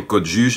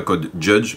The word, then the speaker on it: Code Juge: oui, entre parenthèses, entre-temps j'ai réalisé que juge, J-U-G-E, c'est bien l'orthographe française, donc on dit bien Code Juge et pas Code Judge, parce que ça s'écrit de façon différente en anglais.